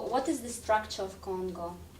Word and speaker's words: CoNGO: i had my way i would rather that it's pronounced co-ngo and as a matter